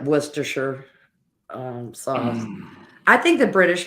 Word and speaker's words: Worcestershire: to admit that I I pronounced the same way Polly does worcestershire sauce go for the whole string of yeah it's like every syllable well it's really funny